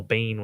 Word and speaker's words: Biehn: how do you pronounce how do you pronounce that is that how you pronounce it or is it BN yeah Michael Biehn is that what it is I think but I